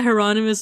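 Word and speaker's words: Hieronymus: Heronomous Bosch, which I never put it together that the uh I guess Spanish or Italian way to say his name is Geronimo or Honimal, right?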